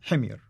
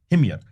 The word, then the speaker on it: Himyar: Well, how do you pronounce it? Himyar. Himyar.